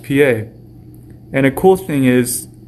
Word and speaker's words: pie: II just like Pi in English except it's pronounced PA and a cool thing is is that we